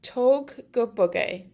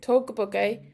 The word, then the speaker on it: tóg go bog é: And then bug obviously pronounced like bug in English, B-U-G, and then E has a fada, so that's long, so it's A.